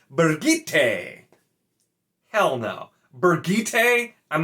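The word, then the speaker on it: Birgitte: way it's b-i-r-g-i-t-t-e so it's definitely not b-r-i it's b-i-r and i know that and so i always kind of read it as bridget because it was an easier name and it just made more sense so budget fine i can do that and i looked this up this is in the glossary it confirms that apparently michael kramer is quote unquote correct it is supposed to be bergite hell no bergite i'm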